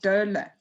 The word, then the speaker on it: doula: You pronounce it doula.